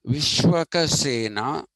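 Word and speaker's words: Vishwaksena: Vishwaka, actually, it should be pronounced Vishwaka Sena, who is Vishnu's commander.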